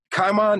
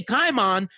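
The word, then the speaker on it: Caiman: They call him, they don't say Kaimon, they say Kaiman.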